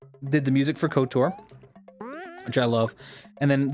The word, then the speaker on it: KOTOR: see here uh yes kotor that pronunciation interesting choice good star wars game though too or good service game two yeah i i think so yeah kotor is as how i've always heard it i've heard it couture